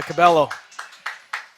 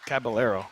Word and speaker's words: Caballero: What a save by Cabello. Oh, Caballero. I should say it right.